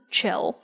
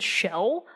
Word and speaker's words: Chell: you are a person, Chell. Some people have said Shell. Her name is spelled Chell. That's Chell. Chell.